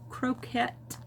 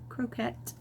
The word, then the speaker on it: croquette: So, anywho, I got these little cute croquette, croquette instead of croquet, because croquet is spelled slightly differently.